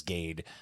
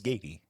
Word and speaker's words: Gaty: I also introduced myself to my wife as Gade because I forgot how to pronounce my last name. So, I may have introduced myself to you with Gade, though the correct pronunciation is gay.